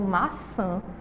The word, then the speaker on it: maçã: Maçã, a gente vai ver que a sílaba mais forte é o san e ele vai ficar lá no final.